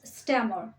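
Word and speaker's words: stammer: তোতলা তোলার ইংলিশ হয় স্ট্যামা স্ট্যামা এখানে শেষে আর এর উচ্চারণ হবে না girl is স্ট্যামার girl is স্ট্যামার তার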